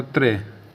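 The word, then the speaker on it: tre: द ए उसके बाद तीन तीन को बो त्र टी आर ई त्रे या इसको इस प्रकार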